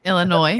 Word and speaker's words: Illinois: The S is silent. Illinois.